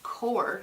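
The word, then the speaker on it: Qor: are made by golden they're qo r or cor as they're pronounced core watercolor really bright and vibrant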